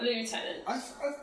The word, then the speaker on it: lieutenant: Oh, And it's not lieutenant. It's I, lieutenant. yeah. Yeah, so the Always American lieutenant.